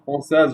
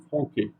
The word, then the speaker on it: français: donc de la langue française où les mots porteront la cédille. Par exemple, le mot français, la lettre C portera la cédille parce que sinon on aurait lu le français franqué.